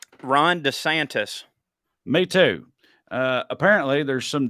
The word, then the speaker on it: DeSantis: Ron DeSantis.